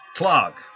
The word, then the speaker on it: Tlog: name for the colony, Tlog. The Hieronym of Tlog. Tlog! I think is how we decided that pronunciation worked.